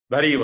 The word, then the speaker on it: Darío: Yendo un poco a la pregunta de Darío, si lo he pronunciado bien, ¿es Darío o Dario? Darío, está perfecto.